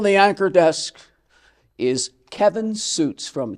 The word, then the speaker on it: Sjuts: had to tell me it'pronounce suits yeah the origin German